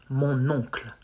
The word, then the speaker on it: mon oncle: But you just link mon and oncle, like mon oncle.